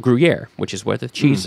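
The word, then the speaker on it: Gruyères: but the town of guer has an S at the end it's pronounced the same cuz French dropped those last letters um but guier is this just beautiful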